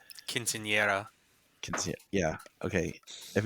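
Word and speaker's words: quinceañera: talking about but sarah is having her um castanetta is that my pronunciation quinceanera yeah okay if it's yeah i suck i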